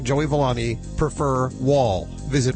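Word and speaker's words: Wahl: Listen, this part of Animal Radio is brought to you by Wall Home Pet Products.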